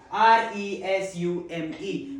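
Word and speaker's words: résumé: Let's talk about today's heteronym which is r e s u m e which has two pronunciations, two different words in English. First pronunciation, resume. It's used as a noun in a sentence.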